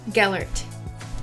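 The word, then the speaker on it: Gellert: yellow what is grindle wald's first name g gallert is that how you say it yes yeah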